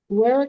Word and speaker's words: Guerrero: We're on the record in BU 2026 TR 1039, State of Kansas versus Guerrero. Is that how that's pronounced?